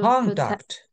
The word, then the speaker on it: conduct: others it is to conduct please please be careful conduct conduct conduct yeah yes contact not conduct conduct not a conduct because it is a noun because it is a